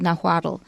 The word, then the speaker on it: Nahuatl: is still spoken today it's called nahuatl and it's spelled capital n-a-h-u-a-t-l so you'll see a lot of adult words from nahuatl adel adl that's kind of unusual we don't have it in english so no guadal and i believe that's